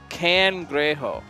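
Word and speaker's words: cangrejo: nice they're very nice can grejo uh okay they will be yeah that is the correct pronunciation thank you doc uh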